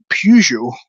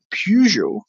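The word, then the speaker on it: Peugeot: market or something and you see Pujo, which is spelled P E U G E O T, Pujo, it's worth looking up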